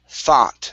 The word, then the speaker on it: thought: we have the word thought the g the o u g h makes an ah sound instead of okay thought thought